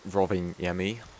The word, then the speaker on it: Rovaniemi: in um in Lapland which is robbing yemi I looked up how to pronounce it and we are